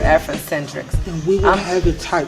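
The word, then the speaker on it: Afrindecentriqs: shauna devine it's african-centric spell a-f-r-i-n-d e-c-e-n-t-r-i-q-s i know that was a mouthful but it's it's just simply pronounced afrocentrics yes i'm showing the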